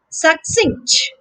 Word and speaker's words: succinct: once again success similarly succinct succinct notice in the spelling of this word that there is an extra c right at the end before t so the second syllable here is singe okay with a curse sound